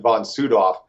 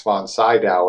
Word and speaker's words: von Sydow: Sydow I believe right he pronounced it von soot off his his son is the miss actor Max von Sydow as Americans call him